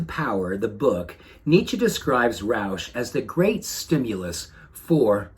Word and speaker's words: Rausch: he used the word roush sounds a lot like my last name but it's spelled differently he actually spells it r-a-u-s-c-h and here's what he